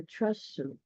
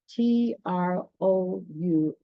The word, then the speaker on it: trousseau: A trousseau. I pronounced that wrong too. Trousseu with the help of other spiders.